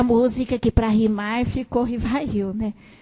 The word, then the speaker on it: Rivail: hepolite León Denizard Rivail muita gente fala que vai eu mas a pronúncia em francês R vai me lembra do Antonieta barini que nos Corrige a sempre então tem até a música que para rimar ficou Rivail né R Vaio tão grande mestre Vaio era